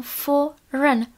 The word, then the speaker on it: foreign: a tohle je k cizí je Foreign Foreign takže ne Foreign žádné a ale jenom foren foren foren pamatujte tohle slovíčko bývá často vyslovováno špatně A co tohle slovíčko